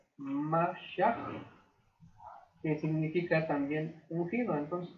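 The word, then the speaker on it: משיח: Y Mesías, del latín bíblico Mesías con doble S, y del hebreo Mesia, la pronunciación aproximada sería Mashiach, que significa también ungido.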